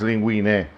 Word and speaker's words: linguine: We're going to let the linguine, that's the name of it, linguine. Although in Italian it's linguine, but never mind.